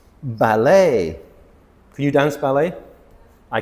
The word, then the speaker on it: ballet: It's not ballet because again we're still in French words. E is a sound. So, this word is ballet.